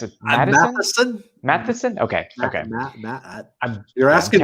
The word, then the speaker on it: Matheson: How do you pronounce it? Matheson.